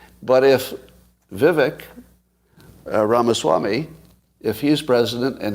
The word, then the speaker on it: Vivek: so I like that oh Vive I'm pronouncing his name wrong really is Vivek how did you let